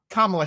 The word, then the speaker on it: Kamala: So that one, he heard how she pronounces her name, right? So just to put that standard there, like Kamala Harris.